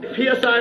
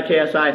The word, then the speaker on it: KSI: i like how he constantly says my name wrong psi pfc kgb kfc psi ksi yeah jay you follow me on twitter and